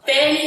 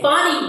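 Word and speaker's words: Fani: up your face but on name pronunciation I do need to apologize to um Fanny it's fonnie Willis and if you listen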